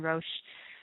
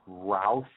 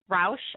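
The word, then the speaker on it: Roush: beginning immediately these are the 2012 and 2013 ro Ford Mustangs that's pretty big stuff included in the packages are front vasia systems hood scoops rear spoilers and window louvers it's actually it's pronounced Rous Rous okay thanks thanks s oh I know some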